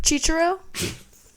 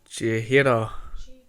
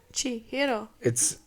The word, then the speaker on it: Chihiro: Chichiro? I heard that one. Or no, not Chichiro. How do you say it? Chihiro? Chihiro. Chihiro.